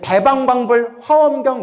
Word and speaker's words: 대방광불화엄경: 화 화엄경 대방광불화엄경 우리 대방광불 화엄경 이러죠 예 원래는 대방광 뛰고 불 뛰고 화엄경 대방광불화엄경 원래는 이렇게 발음해야 정확하 대요 화엄경을 설하셨다 화경은 부처님의